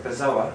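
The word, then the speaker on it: bezoar: had this thing called a bizarre no sorry bizarre as it's pronounced um b-e-z-o-a-r i think that's how it's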